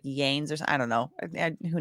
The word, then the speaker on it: Lanez: thank you so much Tory Lanez pronounced pronunciation Lanes okay so that's that's that that was my instinct but I wasn't sure if that was correct thank you for for